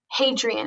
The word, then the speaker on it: Hadrian: roman emperor who built a famous wall and pronounce it adrian hadrian am i saying it correctly yes capital h